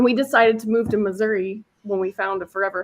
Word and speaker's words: Missouri: that I was always I was always told to pronounce it misery yeah definitely not no it's Missouri I thought you were